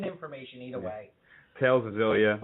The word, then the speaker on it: Xillia: Tales of Xillia. Well, I think it's pronounced Tales of Exilia.